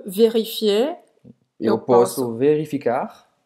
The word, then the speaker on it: vérifier: E vérifier, ER tem o som do E. Vérifier, não pronunciar o R.